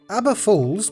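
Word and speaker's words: Aber Falls: jump into number one abba falls pronounced like the band is a beautiful and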